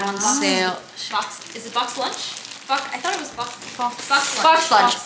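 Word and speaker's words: BoxLunch: We went to Lunchbox and they had on sale. Box. Is it box lunch?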